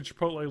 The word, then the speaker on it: chipotle: I actually like the Chipotle loaded grillers. I like the chicken. I believe that's pronounced chipotle.